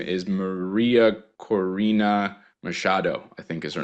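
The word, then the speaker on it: María Corina Machado: Her name is Maria Corina Machado, I think is her name. That's pretty good, Rich. Yeah, the pronunciation.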